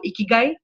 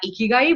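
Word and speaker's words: ikigai: and have you heard the Japanese principle of a key guy no I haven't a key so it's a very interesting principle it's spelled as I K i GA I and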